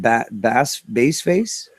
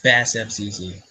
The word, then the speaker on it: BASSFZz: How do I say it? Bass face? No, it's BASSFZz.